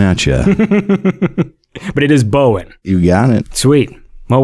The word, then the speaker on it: Bowen: But it is Bowen.